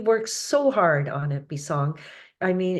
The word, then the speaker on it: Bisong: it's b i s o n so it's pronounced bong and Taio is t a i wo so